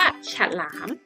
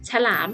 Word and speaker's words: ฉลาม: ต่อ มา เขา ว่า ฉลาม นะ คะ อ่ะ ฉลาม ก็ ไม่ มี รูป สระ อะ นะ คะ แต่ เรา ก็ ยัง ออก สินค้า อยู่ นะ คะ อัน นี้ คำ ที่